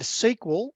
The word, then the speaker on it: SQL: Database servers, so Microsoft SQL Server, that's pronounced SQL, that stands for Structured Query Language.